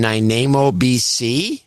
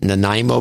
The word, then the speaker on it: Nanaimo: uh quentin proud in nainamo sorry i know how to pronounce it nanaimo bc a hundred dollars